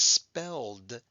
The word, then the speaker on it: spelled: the suffix now because spelled makes a d sound we don't pronounce that e right we're going to